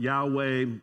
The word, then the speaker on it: Yahweh: the vowel sounds but yahweh is the one pronunciation jehovah is another pronunciation the translation i am